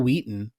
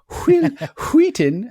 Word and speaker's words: Wheaton: stephen king novella but uh ironically enough will wheaton i just said his name wrong wheaton uh and jerry o'connell are both in stand